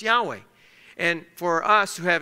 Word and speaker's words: Yahweh: we know is that these are four Hebrew letters and it's pronounced Yahweh and in our English